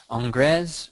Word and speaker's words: Ingres: Like think of, I always forget, I'm going to remember the pronunciation, but somebody always corrects me here. Ingres, or if you're American and you're new to all this, Ingres.